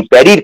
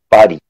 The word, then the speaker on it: Paris: এবং প্যারির ফ্রেঞ্চ উচ্চারণটা হচ্ছে পাহাড়ি, পারি। তো সেই পারিটা আমরা ফ্রেঞ্চ উচ্চারণে বলছি না, আমরা সাধারণভাবে যে উচ্চারণে অভ্যস্ত সেটা হচ্ছে প্যারি, প্যারি কমিউন।